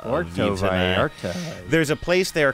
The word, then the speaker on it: Puerto Vallarta: We're going to, how do you say, Puerto Vallarta? Puerto Vallarta.